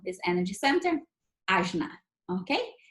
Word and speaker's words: ajna: And we call this energy center ajna, okay? It's spelled A-J-N as in Nancy, A, ajna.